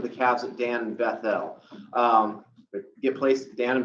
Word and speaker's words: Bethel: Bethel is spelled B-E-T-H-E-L, Bethel.